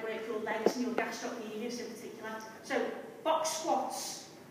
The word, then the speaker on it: gastrocnemius: for that is actually, you're not supposed to pronounce the C, but for the benefit of you being able to spell it correctly as part of the literacy drive, gastrocnemius. Okay, so gastroc, silent C, nemius. Okay, so two more exercises, Miss Hunter.